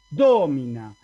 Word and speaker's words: domina: así es el asunto en cambio en domina la y es breve si la ahí es breve como voy a pronunciar acá así domina el acento cae en lado porque porque la penúltima no es larga y si no es larga no puede caer ahí el acento recuerden entonces